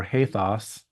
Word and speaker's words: ethos: get this definition for ethos or haos as it would be pronounced uh in Greek um custom manner Place